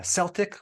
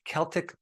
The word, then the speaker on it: Celtic: about Himalayan sea salt uh Celtic or you might pronounce it Celtic Sea salt and other